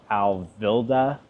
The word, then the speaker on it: Alvilda: really strong debut LP the band is called Al vilda Al v i l d a and again I cannot pronounce the name of their debut LP but